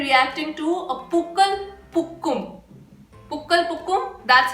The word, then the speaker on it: Pookal Pookum: Pukkal Pukkum, that's how it's pronounced.